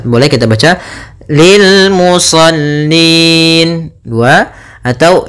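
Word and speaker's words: للمصلين: lam saja Kemudian musallin pada lafal musallin ada bacaan Mad di suukun itu adanya huruf nun yang kita wakafkan menjadi sukun sebelumnya ada huruf mad berupa ya maka ini kita namakan dengan bacaan Mad Arid diukun panjangnya berapa untuk di sini boleh dua boleh empat boleh en harakat boleh kita baca Lil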